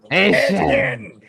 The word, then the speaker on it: Achane: Etienne Yes, the Cajun pronunciation, the Cajun French way.